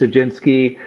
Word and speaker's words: Jadinsky: Yeah, and I've heard that name pronounced many times, so I actually changed my real estate team to the home team, because everyone can say, but it's Jadinsky.